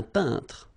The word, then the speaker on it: peintre: So remember when you get this E-I-N together here, then you pronounce this un sound.